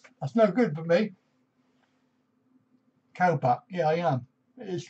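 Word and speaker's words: ข้าวผัด: Khao pat. Yeah, I am. It is khao pat. It's pat, P-A-D. And it's pronounced cow, but it's K-H-A-O. So it's cow pat.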